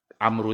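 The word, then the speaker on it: عمرو: Amru itu biasa kalau tulisannya ada waw di situ. Amru. Tapi kalau tidak ada waw berarti bacanya Umar. Maka Umaru ibnul Khattab itu tidak ada wawunya. Maka dibaca Umar. Tapi kalau ada waw dibaca Amr.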